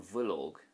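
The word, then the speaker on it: bhileog: We have BH here. Now this is a V sound in Irish. So for example, an bhuilóg is a sheet, an bhuilóg.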